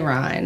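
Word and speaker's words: Ryne: But doppelganger Ryan number 2.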